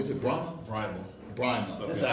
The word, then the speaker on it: Brahma: I always say your name wrong. Is it Brahma? Brahma.